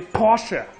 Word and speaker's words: Porsche: In Germany, we say Porsche.